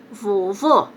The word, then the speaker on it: vovô: a boca ó vovó que você fecha a boca vovô e o acento agudo